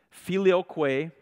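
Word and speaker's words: filioque: like chemnitz said finally the last term is filioce is how you say that that's a Latin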